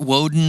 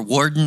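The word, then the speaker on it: Worden: i went to fort woden or warden however they say it looks like wood when i read it but i think they pronounce it warden and officer and a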